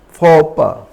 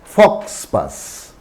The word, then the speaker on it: faux pas: Faux pas. It's not Fox pass.